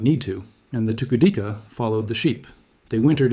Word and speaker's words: Tukudika: It is pronounced Tukudika.